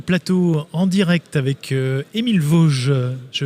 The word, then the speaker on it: Vauge: retour sur le plateau en direct avec Émile Vosges, je prononce bien?